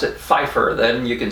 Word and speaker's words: Pfeiffer: last name pfeiffer and if you pronounce that without a p at the beginning if you just pronounce it phifer then you can say